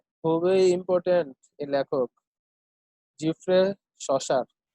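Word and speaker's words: Chaucer: খুবই ইম্পর্টেন্ট এই লেখক জিফ্রে শসার। জিফ্রে শসার বলা হয় বাংলা উচ্চারণ চসার।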